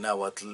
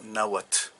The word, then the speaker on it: náhuatl: esa manera de escribir o de aplicar al náhuatl, la manera de decirse o de escribirse, pero es una cosa absurda que no tiene por qué aplicársele al náhuatl.